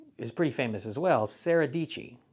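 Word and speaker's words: Sara Dietschy: pretty famous as well sarahi Sarah dii rhymes with pachy so John Hill and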